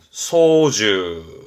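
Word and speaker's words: 操縦: 발음은 소주. 요게요. 조종사까지 보셔야 돼. 요 사자도 시험 때 N2에서는 보여지거든요. 사자가 스승사도 있고 하지만 이 조종사의 사는 선비사를 쓰기 때문에 이 한자 때문에 봐주셔야 됩니다. 발음은 소주시.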